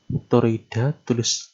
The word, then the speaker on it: toroid: Toroida, tulisannya toroida, bacanya toroid. Nah, kalau solenoida tadi adalah kawat yang melingkar tetapi dia berbentuk lurus.